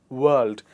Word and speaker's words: world: It is world because letter R is followed by the L sound and we do not pronounce it. So we say world.